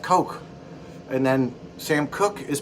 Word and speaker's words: Koch: like um packer lobbyists they're pronounced coke and then sam cook